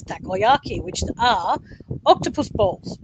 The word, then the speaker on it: takoyaki: When you see the word for the first time, you're like taco. You don't know how to pronounce it. So it took me a while to learn how to pronounce it as takoyaki, which are octopus balls,